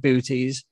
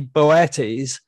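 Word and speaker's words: Boötes: pronouncing that word because I call it booties. I've heard people call it boots because it's got normal out on the second O. It should more correctly be Boetes.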